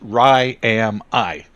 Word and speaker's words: Ryami: talking to here okay Rami Rami and you said it was from RAR it's from ryar from 1982 when I played in the I went to ryar thean and I pronounce it Ry am I right am I yes I've been I've been saying it wrong this whole time we had a whole